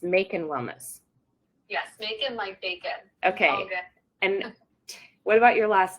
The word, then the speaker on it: Makin Wellness: much better making wellness it's like you're making Wellness so cute I love